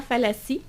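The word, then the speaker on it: Fallaci: un homme de Oriana Fassi fi fi faut la prononcer à l'italienne c'est une italienne effectivement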